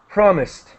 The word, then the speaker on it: promised: sound, very quick, filled, and promised, a T sound, very quick, promised.